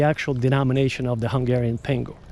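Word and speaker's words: pengő: To what happened to, not the Deutschmark, but Hungarian pengu. It's spelled with it's got a weird spelling, but it's pronounced pengu.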